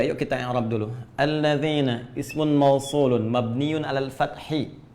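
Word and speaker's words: الَّذِينَ: Karena itu dibacanya alladzina. Kita tidak baca alladzinu, enggak ada alladzini, selalu mabni tetap dalam harakat ini.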